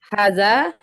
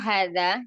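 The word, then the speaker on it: هذا: Haza. Iya. Sukarun Ini ya, Ustazah. Sukarun. setiap kali ketemu isim isyarah hadza ya, di situ dibacanya panjang ya.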